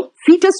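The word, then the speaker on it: foetus: हटा देते हैं, तो फीटस में ओ साइलेंट है इसलिए अमेरिकन ने इसको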